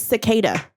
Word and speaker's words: cicada: what do you know that's not how you pronounce it what SAS SAS that's how it is it's cicada oh oh cada I was